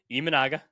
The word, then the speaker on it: Imanaga: Imanaga.